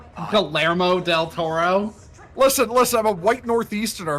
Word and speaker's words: Guillermo del Toro: I'm still crashing out over y'all mispronouncing Guillermo del Toro's name. You mean Guillermo del Toro? Guillermo del Toro?